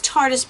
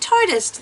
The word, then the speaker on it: Tarteist: received the tarteist pro it is tarteist by the way because when i first got something from them i was like how do you pronounce it so i reached out to tarte and i said how do you pronounce it and they said tardis like artists and i was like